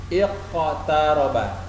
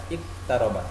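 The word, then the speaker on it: اقتربا: Bagaimana cara membacanya? Iqtaraba. Iqtaraba. Ada pantulan, ada getaran. Tidak boleh kita baca iqtaraba. Salah. Iqtaraba. Salah.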